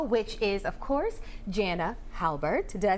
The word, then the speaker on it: Halbert: Halbert, did I say it right?